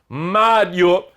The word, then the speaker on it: Mário: Mário, sílaba tônica é a penúltima, tem que ter acento. Maria, sílaba tônica é o I, não tem acento.